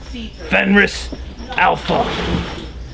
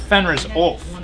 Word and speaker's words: Fenris Ulf: Fenris Alpha. Sounds like some stupid Street Fighter character I think name. it's pronounced Fenris Ulf.